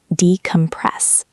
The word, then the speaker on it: decompress: Notice the stress on the last syllable. Decompress.